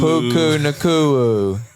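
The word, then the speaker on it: Puka Nacua: Um I'm trying to think of guys from last year, but yeah, guys this year, Bucky Irving, Puku Naku, Puku Naku, you you said it right.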